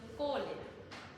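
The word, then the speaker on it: cholerae: Yo sé que se escribe cholera, pero es vibri cólera.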